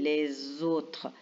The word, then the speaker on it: les autres: autres là regardez bien on fait la liaison les autres la lettre S elle est entre deux voyelles alors quand la lettre S est entre deux voyelles on la prononce Z et on dit les autres et on a